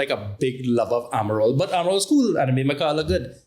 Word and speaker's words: Amarol: Amarol. Yeah, Amarol.